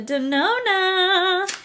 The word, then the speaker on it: Denona: a product from natasha denona do you guys remember the days when i used to say natasha danone because i couldn't figure out how to say the right name so this oh this